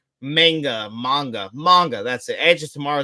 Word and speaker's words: manga: Edge of Tomorrow is actually based on a comic or magma of the same name, I believe. You're 100% right, Magna. What did I say? I said it wrong. Manga.